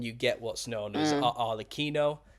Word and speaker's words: Arlecchino: Kind of mash them together and you get what's known as Arlecchino, as it's pronounced in Italian. Someone's corrected me on this. I've been saying Arlecchino, but in Italian it's pronounced Arlecchino, and that's where you get Harlequin from.